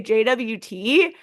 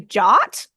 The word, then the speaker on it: JWT: were saying yesterday apparently you could say JWT or you can say jot and so apparently they